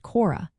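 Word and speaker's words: χώρα: For example, the word for land or country is chiomegaro alpha, pronounced chora, and it ends in a.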